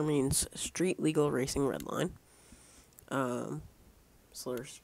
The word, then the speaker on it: SLRR: So guys, to start off our slur series, slur means Street Legal Racing Redline. Slur's just the short form for it, which is not spelled like slur as in slurring your words. It's SLRR.